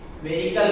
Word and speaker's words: vehicle: Vehicle. That is silent. Vehicle, not vehicle. That is vehicle.